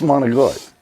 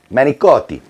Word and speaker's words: manicotti: No one calls and they're like, you know, what's monogot? Manicotti.